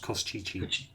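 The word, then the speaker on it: Koshchei: ooh, I don't know why it's got all those X's in it, but according to the pronunciation guide, this is pronounced Koschichi.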